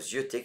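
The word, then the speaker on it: zyeuter: Le verbe zioter qui s'écrit Z-I-E-U-T-E-R ou Z-Y-E-U-T-E-R.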